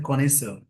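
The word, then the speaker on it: connoisseur: लेंगे चलिए आगे बढ़ते है एक वर्ड है कोनिस इसके स्पेलिंग जरूर याद रखेंगे सी ओ डबल एन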